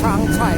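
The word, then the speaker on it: Changchai: ว่า จะ เป็น เครื่อง ชาง ชย นะ s a g C AI ครับ น่า จะ อ่าน ว่า ช้างชัย แบรน จีน ครับ ผม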